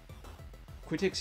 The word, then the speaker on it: Quitix: Quitix is, oh, the pronunciation, is actually pronounced Q-tips, but with the letter X instead of the letter S at the end.